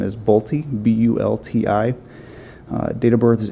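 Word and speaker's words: Bulti: best to pronounce the name and I can spell it for you as well first name is nagusi n-i-g-u-s-s-i-e last name is bolti b-u-l-t-i date of birth is 821 of 59.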